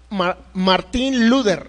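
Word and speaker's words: Martin Luther: Pues Martín Lutero era un hombre, Martín Luther, así más o menos era como se pronunciaba.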